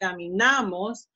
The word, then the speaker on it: caminamos: In this case is na, because it's second to last, caminamos.